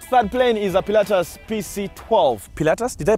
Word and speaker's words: Pilatus: next all right flat-plane is a Pilatus pc-12 paletas did I pronounce that right yep what does it even